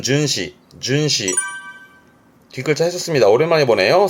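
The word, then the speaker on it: 巡視: 순시 발음은 준시 준시 뒤걸차 했었습니다.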